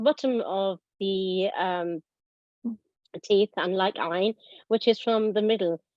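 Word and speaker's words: ع: Softly pronounced from the middle of the throat, a typical letter of Arabic, a letter of the throat. Ain. Yes, Ain.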